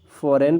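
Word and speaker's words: foreign: आप देख लीजिए, कहीं पर भी देख लीजिए तो, या कैंप पढ़ेंगे, फॉरेन पढ़ेंगे, रिजाइन करेंगे, नोम करेंगे और साइन करेंगे, ठीक है।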